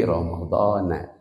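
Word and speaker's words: رمضان: Insyaallah Yang lebih Yang lebih tepat dibacanya itu na ituah r Syahri Ramadana itu majrur tapi Isim gir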